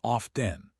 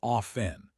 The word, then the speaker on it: often: Most people say often with a hard T sound, but historically, traditionally, the correct pronunciation is often. With a silent T, the word comes from an older form where the T wasn't pronounced, similar to words like soften or listen.